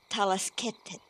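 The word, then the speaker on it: Talaskhet: In order to understand the 14 Yurga permutations, first it is necessary to explore the 13 Talasketet.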